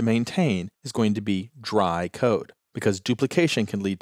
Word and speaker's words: DRY: is dry code now I'm always going to pronounce that as dry but it's actually three letters d r y which stands for don't